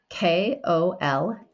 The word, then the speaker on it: Kolache: spell it? Kolache, it's Kolache.